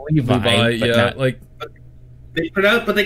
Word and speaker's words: Levi: Levi? The guy who shares my fucking name. Yeah, it's pronounced Levi. Yeah, but they call him Levy though.